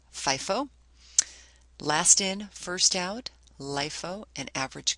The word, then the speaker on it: FIFO: specific identification the other methods are first-in first-out pronounced FIFO lastin first-out LIFO and average cost specific identification